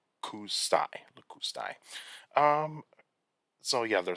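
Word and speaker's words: lakustai: You also have Canadensis, Canadensis, and Lacustai. So you got Paratorum, Canaden, Canadensis, and Lacustai, or Lacustai. And so sometimes these names are very hard to pronounce, and so it's Paratorum, Canadensis, and Lacustai.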